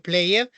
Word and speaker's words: played: la la pronunciación si en este caso la Ed pues no no se pronuncia la e es played o jumped Okay Tenemos aquí positivo